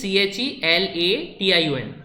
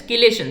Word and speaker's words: chelation: Spelling is CHELATION. It is generally pronounced as chelation.